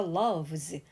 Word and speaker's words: loves: 같으면은 당연히 loves 되겠지 참고로 이때 s의 발음은 like 처럼크 무성음으로 끝나는 발음 뒤에 붙은 s는 역시 무성음인 소리를 내서 like 그런데 love 했을 때 마지막 소리 이거는 목에 떨림이 있는 유성음인의 그 뒤에부터네스는 역시 유성음인 즈소리 그래서 loves 발음이 이렇게 달라져 그 다음 두 번째